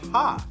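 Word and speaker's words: ห้า: In Thai, the number 5 is pronounced ha, so instead of saying ha ha ha ha ha, Thai people will sometimes write 55555.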